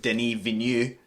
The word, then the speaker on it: Denis Villeneuve: I mean, whatever happens next year, we know that Denis Villeneuve, I learned how to say his name, will be making at least like 15 films.